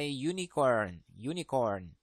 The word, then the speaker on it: unicorn: Ini bacanya adalah unicorn. Ya, berarti ini walaupun huruf hidup, kita tidak bisa pakai a unicorn. Kita nggak bisa pakai an unicorn karena di sini bacanya adalah huruf mati, unicorn. Berarti pakainya a unicorn, ya, karena ini adalah konsonan sound, ya.